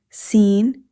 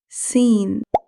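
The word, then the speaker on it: سين: This is seen. The articulation of seen is the tip of the tongue near the lower front teeth. Air flows smoothly while pronouncing seen. In English, similar to s in sun.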